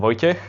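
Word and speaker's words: Vojtěch: I'm Vojtech. It's a strange pronunciation for you, I guess. It's because I'm from Slovakia originally.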